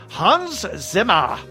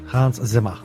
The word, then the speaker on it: Hans Zimmer: Hans Zimmer. And you have to say it like that. Yes. Hans Zimmer.